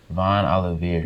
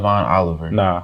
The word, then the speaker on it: Von Oliveira: to make something else it's called Oliveira Von Oliveira yeah so not Von Oliver people think it's my Oliver because my last name